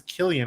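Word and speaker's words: Cillian: why Christopher and I've heard it's how you pronounce him as Killian actually not yeah so Killian Murphy I haven't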